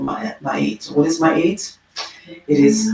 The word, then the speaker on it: Ma'at: Ma'at is the word that is mispronounced. Ma'at is how many people say it, but it is actually Ma'at. And the long A sound represents the measure of a person's character.